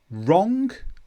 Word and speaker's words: wrong: Wrong, rap, right. My answer was wrong. It's cold, wrap up warm. Please write me a letter. So here we just pronounce the R, we don't pronounce the W.